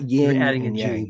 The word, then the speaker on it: yin: other yep that's like ying and Ying I want to call it ying and yang right but it's not Ying it's Ying yeah you're adding a g yeah